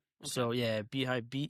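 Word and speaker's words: beehiiv: So yeah, Beehive. Be e h iv is how they spell it.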